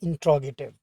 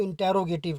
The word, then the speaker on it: interrogative: तो देखने में देखिए अक्सर लोग इसको इंटेरोगेटिव कहते हैं, ये प्रोनाउंसिएशन गलत है, आपने इसको इस तरह से प्रोनाउंस करना है, इंट्रोगेटिव।